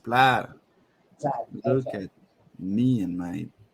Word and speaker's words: Plaid: expo played either way i think i'm pronouncing the drawing by saying played right isn't it how do you pronounce it what's the right english way to pronounce it i think it's pronounced was it plaid am i doing it wrong ah jeez it's pronounced plaid look at me and